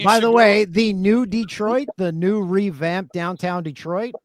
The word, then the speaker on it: Detroit: kept saying they're like it's not de trit it's Detroit like with one e and I'm like why